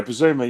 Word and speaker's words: Bissouma: that is this person here, and that is Bissouma. Is that how you say it? Yeah, Bissouma.